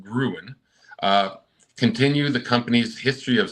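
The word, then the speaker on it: Grön: The new Halloween edibles from Grown, pronounced Gruen, continue the company's history of seasonal product releases.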